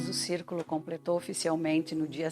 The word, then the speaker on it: Circolo: Círculo, na verdade, é um círculo. Pronuncia círculo porque é uma expressão italiana que o C e o I se fala ci, como arrivederci, né?